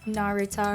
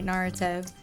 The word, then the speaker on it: Naruto: How do you pronounce it again? Narutar. Naritar. No, sorry. Naruto.